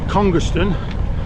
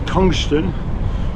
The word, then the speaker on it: Congerston: So the first stop is Congerston, spelt Congerston, but pronounced locally as Congston or Congston, or I don't know what I want to say. But it's been smashed down to something else.